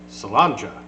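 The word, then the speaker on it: Sláinte: But that is, like I said earlier, it's Gaelic, and it's pronounced Salanja.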